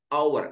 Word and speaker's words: hour: a lah perhatikan ini meskipun ini adalah tulisannya konsonan tapi cara membacanya for hour an hour an hour ini pakai an nah an unfir UN